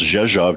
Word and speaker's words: Rzeszów: And she smiles and tells me the gate and says it's pronounced Rzeszów, just like it's spelled.